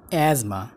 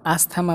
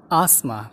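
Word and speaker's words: asthma: एज्मा, यो आस्थामा होइन एज्मा हो, यसलाई आस्मा पनि भन्ने गर्छन् ब्रिटिसहरूले। एज्मा अथवा आस्मा।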